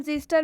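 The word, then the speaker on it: xyster: वा आया हुआ है इसलिए हम इसमें एक्स का उच्चारण ज से करेंगे इसलिए हम जिस्टर मेक्स का उच्चारण ज से कर रहे हैं ठीक है जिस्टर मतलब होता है जिस्टर यहां पर एक्स के बाद वा आया है देख सकते हैं आप यहां पर एक्स आया है और एक्स के बाद से वा आया है इसलिए एक्स का उच्चारण ज हुआ है इसलिए जो एक्स है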